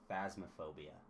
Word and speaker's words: Phasmophobia: huh uh you missed I think you mispronounced it it's phasmophobia isn't that yeah f